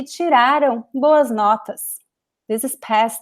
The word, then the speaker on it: tiraram: And here the stress is ra. Tiraram. The end is very weak. The am sound is very weak because it's not important, it's not stressed. Estudaram. It's very weak.